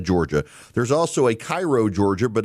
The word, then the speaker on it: Cairo: There's also a Cairo, Georgia, but it's pronounced Caro, Georgia, and on and on it goes.